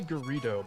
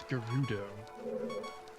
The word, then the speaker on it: Gerudo: 'Cause yeah, I've always said Gerudo with an E. I always said it with a Ru.